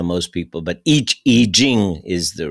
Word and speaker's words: I Ching: I've always heard it referred to as the Iching, but the Iching. Yeah. Uh, that's right. The E the I is act I say I ching because that's how most people but each eing is the right pronunciation.